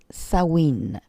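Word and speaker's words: Samhain: de du 31 octobre je les prononcer sa mine comme ça s'écrit samhd1 n mais nos sorcières anglo saxon le prononce sa wind et ça se rapproche plus du mot halloween que l'on utilise en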